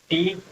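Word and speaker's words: two: air repair ठीक है टी डब् ओट अब यहां पर देखिए ये डब हमारा साइलेंट हो जाता है नहीं पढ़ते इसको छोड़ते हैं टी डब् ओटू पढ़ा जाता है इसको ये ट टू वाला है ये ठीक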